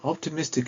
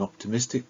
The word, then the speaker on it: optimist: syllables one two three however the word stress is in a slightly different place okay listen optimist it's no longer on the third position that's right it's on the first place first syllable optimist optimist he is an